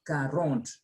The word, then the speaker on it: quarante: When letter Q and letter G is followed by letter U, U is silent.